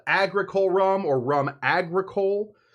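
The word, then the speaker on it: rhum agricole: This stuff often called agricole rum or rum agricole, usually spelled with an H. I'm not going to tell you where that H goes because you wouldn't believe me if I said it. It's after the R.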